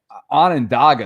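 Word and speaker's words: Onondaga: He says that um Anandaga, this is up near me. That's how I know how to freaking pronounce this.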